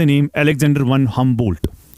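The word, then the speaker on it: Humboldt: हमंबोल्ट एच यू एम बी ओ एल डी टी डी E silent.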